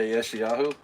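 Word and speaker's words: ישעיהו: I don't know how to pronounce it. We're going to look up Isaiah. Yeshayahu? Yeah, Yeshayahu.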